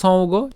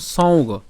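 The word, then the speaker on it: সঙ্গো: এর উচ্চারণ কেন সৌগ? এখানে কি আছে? উঁ আছে, তো এর উচ্চারণটা কেমন? সৌগ। তাহলে স উঁ এবং হচ্ছে গ ওকার, তাই উচ্চারণটা কেমন? সৌগ। ঠিক আছে, সৌগ।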